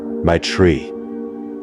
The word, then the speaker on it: Maitre Yi: Her name was Maitre Yi. She told me to pronounce it like, my tree."